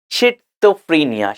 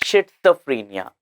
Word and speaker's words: schizophrenia: uh schizofrenia right it's shizophrenia shizophrenia although we don't have t here but it is pronounced as Shenia shizophrenia sorry and